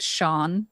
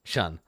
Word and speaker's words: Shun: Shun. His name is. Sorry, there's a drow named Sean. No, his name is Shun. because his friends don't like it. You're not pronouncing it correctly. It's Shun.